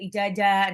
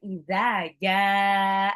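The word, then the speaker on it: إِذَا: Biasanya bacanya tuh ijazah, nasrullahi wal fath. Salah. Seharusnya izaja, nasrullahi wal fath. Jadi ada beda antara dal sama jim.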